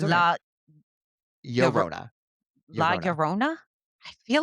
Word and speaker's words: La Llorona: So the double L is pronounced like a Y, so La Llorona.